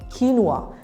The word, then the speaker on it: quinoa: say this one quinoa the correct pronunciation is quinoa repeat after me kinwa kinoa is known as